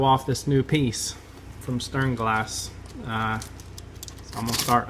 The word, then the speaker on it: Sternglas: best I can, but I believe it's pronounced Sternglas. I want to say Sternglas, but that's not it. That's my southernness trying to take over.